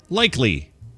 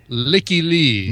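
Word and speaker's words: Lykke Li: Okay, I'm going to say likely. That is incorrect. It is pronounced Licky Lee.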